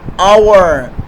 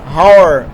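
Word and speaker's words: hour: جاتا ہے او, تو یہ ایچ تلفظ نہیں ہوتا. اگر آپ تلفظ کرنا چاہیں تو تلفظ کر سکتے ہیں, ہاور, ٹھیک ہے, لیکن یہ تلفظ نہیں ہوتا, اور ہوتا ہے, ٹھیک ہے.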